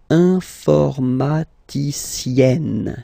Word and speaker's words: informaticienne: And you get the sound informaticienne, sienne.